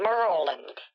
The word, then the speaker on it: Maryland: They call it Maryland. Maryland. No, Maryland. That's how the locals say. My husband was originally from Maryland. Maryland. Okay. Like a mermaid.